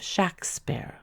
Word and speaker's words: Shakespeare: is good proof that the pronunciation of the first syllable was short and sharp and that the warwickshire patois gave it the sound of shaksper in the earliest entries